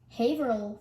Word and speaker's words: Haverhill: twice shame on me can you guess the pronunciation of this one you've got it haverhill for real now let's try it one last